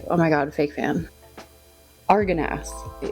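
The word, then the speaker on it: Argonath: So here we've got the Araganath. Hold up, how do you say? Lord of the Rings statue. Oh my God, fake fan. Arganath.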